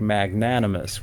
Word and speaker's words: magnanimous: on the third syllable or things like magnanimous where it goes on the second syllable that those kind of